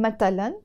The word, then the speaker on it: مثلا: And this ث is usually pronounced either as a ت or a س in Lebanese Arabic. So we don't say مثلاً in Lebanese Arabic, we say مثلاً or مثلاً.